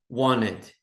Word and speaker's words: wanted: Wanted. Lembra que não pronuncio o T aqui? Wanted.